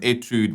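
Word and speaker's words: étude: there's this word called i think you pronounce it etude right or an etude whatever you want to pronounce it but um that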